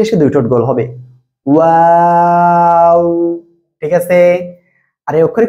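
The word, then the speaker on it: و: চলুন এখন আমরা দেখেন যে অক্ষরটা শিখতেছি এখন, সে অক্ষরটা হলো এই যে অক্ষরটা দেখেন, দুই ঠোঁট গোল করেন আমার মতো, গোল করেন গোল করেন, ওয়াও, আবারও ওয়াও।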